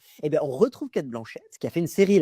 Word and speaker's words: Cate Blanchett: Oui, c'est pas la blanquette. Eh bien, on retrouve Cate Blanchett, qui a fait une série là, alors je peux le dire, qui est à Apple TV.